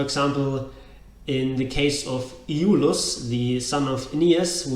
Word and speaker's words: Iulus: is pronounced Iulus, but in fact it is Iulus. This extra syllable, this short syllable E, is a syllable of its own, Iulus, not Iulus.